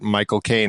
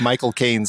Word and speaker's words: Michael Caine: where they're talking about Michael Caine and how you say his name is you say my cocaine, and that's like how he says his name.